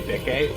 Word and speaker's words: Bikke: It's pronounced Bike. No, it's actually, it is actually supposed to be Bikke, but Bike works.